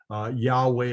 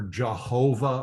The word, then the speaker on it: Yahweh: You may have heard the term Yahweh Rapha or Jehovah Rapha. Jehovah, of course, means nothing. It's a mistake in the pronunciation of God's sacred name.